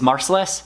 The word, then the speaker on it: Marcellus: of mine um now the proper way to say his name is marcellus so marcellus blends uh hair if